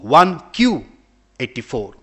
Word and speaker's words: 1Q84: he titles his book 1q84 q in in japanese 9 is pronounced as q so because 1984 is no longer here we are living in beyond 1994.